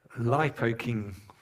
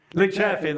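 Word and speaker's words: Linköping: to see the cathedral cathedral uh in uh Liipo King. I probably can't say that correctly, but anyway, we went to see a big big cathedral. Anyway, uh Junior will tell us how to say it later. Lynching.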